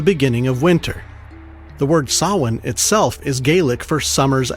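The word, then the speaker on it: Samhain: We know that the Kelts in Ireland, Scotland, and the Isisle of Man celebrated something called Sawin. It's spelled S A M H A I N. Sawin, super phonetic.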